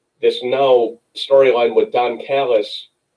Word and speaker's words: Callis: now storyline with don callis which rhymes with gallus which rhymes with dallas uh going to impact